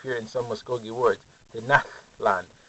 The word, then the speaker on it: Tenochtitlan: Tenochtitlan. It's kind of a breathiness if you hear it pronounced correctly.